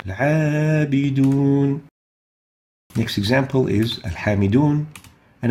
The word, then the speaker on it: العابدون: العابدون, the عين, again, is not among خصادات القذ, so the حكم is attenuation, ترقيق, as we're going to listen to Sheikh al-Husari giving it or pronouncing it with ترقيق. العابدون.